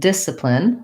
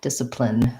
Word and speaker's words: discipline: say s diagnosis and discipline first syllable stress the c is silent it just sounds like dis er plin discipline um long chart chart